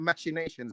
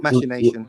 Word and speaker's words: machination: why are you saying machinations by the way uh you're right I did mispronounce it um hold on machination machination yeah machination yeah machination it's not mination was it was it